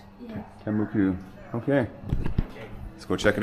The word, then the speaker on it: Tembuku: Tembuku.